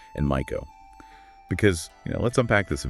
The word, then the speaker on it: Maiko: Geisha is G-A-Y-sha, Maiko, that's M-Y-koh.